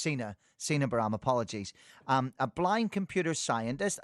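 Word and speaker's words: Sina Bahram: Sorry, it should be pronounced Sina Baram, apologies.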